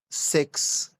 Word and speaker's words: CeX: coin c-o-i-n GE cko number two is sex c e x x like xylophone c